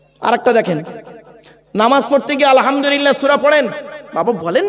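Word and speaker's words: الحمد لله: দেখেন নামাজ পড়তে গিয়ে আলহামদুলিল্লাহ সূরা পড়েন বাবা বলেন না একটু কথা বলুন না আলহামদুলিল্লাহি রাব্বিল আলামিন এই মা বোনেরা ভালো করে শুনে নিন আলহামদু এই গলার ভেতর থেকে হ্যাঁ এটা উচ্চারণ করবেন আলহামদুলিল্লাহ এর মানে কি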